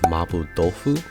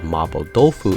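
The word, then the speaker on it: 麻婆豆腐: So when I saw a recipe called Mabo Dofu in the Persona official cookbook, I was a little confused. It turns out that's simply how the name is pronounced in Japan, a slight change as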